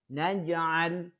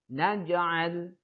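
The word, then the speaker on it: نَجْعَل: Cara membacanya adalah dengan memantulkan lafaz huruf-huruf tersebut secara ringan dan lemah. Secara ringan dan lemah. Perhatikan contohnya. Jim yang di tengah. Naj'al. Naj'al.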